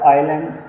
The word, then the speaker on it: island: G silent and uh the word Island there is s silent so while we are